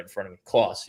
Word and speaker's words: Clauss: Clauss. Yep. Like Santa Claus.